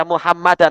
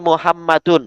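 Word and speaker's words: مُحَمَّدٌ: Jangan baca Muhammadan tapi Muhammadun. Nah, pakai dhammah Muhammadun.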